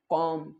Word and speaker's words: comb: फिर MB powder नहीं बोलकर किस क्या बोलेंगे कॉम क्या है कि बी का उच्चारण ना कुछ करते ही नहीं है कि